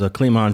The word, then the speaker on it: Clemon: So you know about Evil, which is Clemon Johnson. He had his brother with Sinister. You know, you familiar with that family? You're saying it wrong. His name is Clemon Johnson. Clemon.